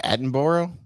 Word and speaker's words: Attenborough: Richard Attenborough? Is that how you say his name? Attenborough.